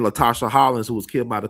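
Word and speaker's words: Latasha Harlins: Latasha Holland.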